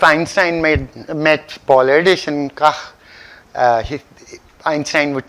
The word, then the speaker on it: Kac: I tried it on Google. It was saying Kach, right? There's Polish.